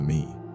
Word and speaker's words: me: A key concept in Mesopotamian cosmology was the idea of me pronounced me.